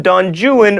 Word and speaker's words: Don Juan: is don juan but in byron's epic poem don juan rhymes with ruin you would not explode